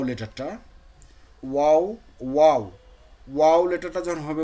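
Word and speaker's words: واو: চলেন আমরা এই যে ভাইয়া বলছেন ওয়াও লেটারটা, ওয়াও, ওয়াও, ওয়াও লেটারটা যখন হবে, উচ্চারণ হবে, তখন দুই ঠোঁট গোল করে মধ্যে ফাঁক করে, মানে এই যে দুই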